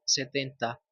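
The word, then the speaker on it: seventy: 60 y llegamos al 70. Aquí nuevamente el T es muda, se omite, pero también se puede decir en variantes más formales, incluso en la variante británica donde la T es muy marcada, pero en el inglés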